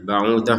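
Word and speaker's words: بَعُوضَةً: Nah, ba'udah misalkan kita berhenti di sini maka huruf tak marbutohnya, ini tak marbutoh namanya, maka ini terbacanya sebagai huruf ha. Ma ba'udah huruf ha. Karena kita berhenti.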